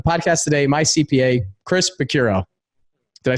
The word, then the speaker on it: Picciurro: So I have on the podcast today, my CPA, Chris Picciurro.